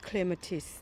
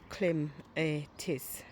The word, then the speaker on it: clematis: ให้ ทุก คน ฟัง clematis ถ้า ออก เสียง แบบ ฟิ ก็ clem atis แต่ ว่า ออก เสียง ควบ กัน ก็ เป็น clematis ค่ะ สวย งาม เนี่ย เดี๋ยว